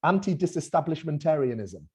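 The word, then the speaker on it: antidisestablishmentarianism: out that word for me rishi almost it's pronounced anti-disestablishmentarianism sarah say anti-disestablishmentarianism five times quickly anti-disestablishment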